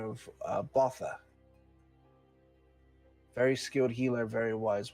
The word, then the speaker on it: Bautha: Botha. Thank you. Specifically, Botha Deer. But Can you spell that?